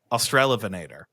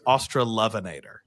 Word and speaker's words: Australovenator: way every Australian pronoun so the way we pronounce it is austral vanator MH the way every Australian pronounces it is australovenator oh really well I won't be adopting that